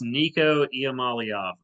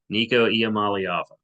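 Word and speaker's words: Nico Iamaleava: I believe it's Nico Iamaliava.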